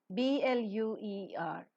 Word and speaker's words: bluer: B-L-U-E-R, bluer. Most of the Indian pronunciations stick on to bluer. Not ear sound is not pronounced, it is bluer.